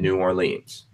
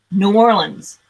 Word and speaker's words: New Orleans: name of the city he needs to say it properly New Orleans not New Orleans New Orleans New Orleans